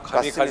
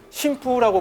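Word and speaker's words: 神風: 신의 바람, 가미카제. 맞습니다. 네. 그래서 당시 일본에서는 사실 음독으로 신푸라고 불렀어요. 근데 이거를 나중에 이제 미국 언론에서는 훈독으로 읽어가지고 가미카제라고 읽었고, 그 뒤로는 이제 일반적으로 가미카제로 이걸 사람들이 부르기 시작을 했죠.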